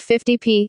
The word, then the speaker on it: 50p: The symbol for the penny is P, hence an amount such as 50p, 50 pence, properly pronounced 50 pence is more colloquially, quite often, pronounced 50p, FFTI, pi.